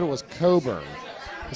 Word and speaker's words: Cockburn: truth but he said his name was Dr Richard Coburn so the CK was silent I don't know what